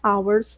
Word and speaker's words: hours: Perceba que hours, ou hour, a palavra hora, é uma palavra que não tem aquele R pronunciado, do her, né, que a gente já usou em outros momentos, tá? Então, existe aqui a exceção também para esse H aspirado que a gente tem, tudo bem?